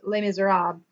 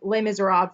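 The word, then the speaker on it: Les Misérables: I think in French it's pronounced Les Miserables.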